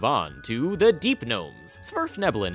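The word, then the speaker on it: svirfneblin: to the deep gnomes smurf nebulon is how you pronounce the actual name of these people but i'm going to keep calling them deep gnomes because no word should put an s and a v right next to each other blame the norse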